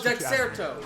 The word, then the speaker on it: Dexerto: Is that how you pronounce his name? I always thought it was deexerto. Dexter. Oh, Dexerto.